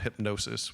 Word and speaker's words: Hipgnosis: did in collaboration with the design group called Hypnosis, which is spelled Hipgnosis.